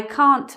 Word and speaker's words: can't: always say the T, we don't always pronounce the T in this word, can't. So it might sound like this, I can't understand you, but it might also sound like this, I can't understand you, I can't understand you.